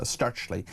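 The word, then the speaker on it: Stirchley: It's on the front page and starchley in Birmingham is how you pronounce it.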